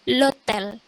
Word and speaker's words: l'hôtel: Jadi kalau di bahasa Prancis, H itu biasanya nggak dibaca kalau diapit gitu, kayak ada L di depan. Itu nggak dibaca, bacanya langsung l'hôtel.